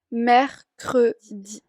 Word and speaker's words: mercredi: De ahí miércoles se dice mercredi, mercredi.